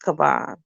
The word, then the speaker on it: Kavan: My little cousin's name is pronounced Kavan. The teacher was calling him Kevin. See, he didn't answer. She called me and I went into her office. She said Kevin. I said his name is Kavan.